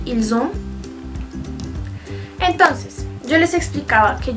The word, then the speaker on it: ils ont: En ese caso, no se pronuncia la S, es necesario, bueno, uno puede decir ils ont.